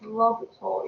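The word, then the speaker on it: L'Hôpital: section 2 today uh the h is silent so it's pronounced lobitol you know the pronunciation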